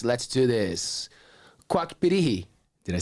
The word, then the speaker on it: Pirihi: Quack PIRIHI.